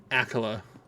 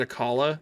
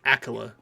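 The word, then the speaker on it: Akkala: so mad that that's how it is actually pronounced Accola I always said aala cuz I thought aala just sounded better but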